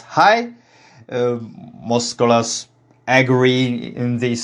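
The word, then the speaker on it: é: The early form of this word is reconstructed as hai.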